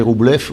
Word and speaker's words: Rublev: Si vous voyez Andrei Rublev, ou Andrei Rublov, comme on dit, si on prononce ça.